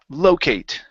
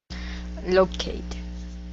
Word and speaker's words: locate: um Locate yeah so the stress is at the beginning locate locate okay very good and